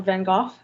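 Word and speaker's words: Van Gogh: the art world with people like vanen go um or vof as you should pronounce um uh I happen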